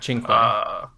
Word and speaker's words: cinque: Cinque.